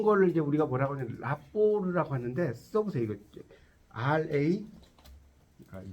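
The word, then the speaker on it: rapport: 네, 이걸 이제 이럴 때 라포르라고 써보세요. 라포르. 네, 그렇죠. 불어요. 라포르. 이제 우리 이제 라포라고도 이제 쓰여요. 라포인데 엄밀히 말하면 라포르라고 읽어요.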